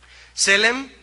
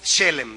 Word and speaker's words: shalom: en levítico eh s se dice en hebreo selem es con acento en la primera e selem así como se oye con una H después de la S como si dijéramos shelem verdad Y esta palabra shelem